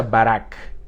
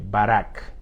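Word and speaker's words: ברך: palabra bendito viene de un vocablo hebreo en esta oportunidad porque estamos leyendo el antiguo testamento que se pronuncia barack así como lo oye barack así como se llamaba uno de los expresivos se llama uno de los expresidentes estadounidenses barack obama la palabra barack significa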